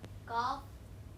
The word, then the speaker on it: calf: That L in calf and calm are not pronounced.